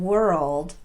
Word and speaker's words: world: Both girl and world are technically one-syllable words, but here's the thing I want you to know. Native speakers actually say these words as if they have two syllables. They just do it really fast.